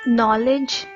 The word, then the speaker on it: knowledge: is K the silent letter in knowledge is K the silent letters in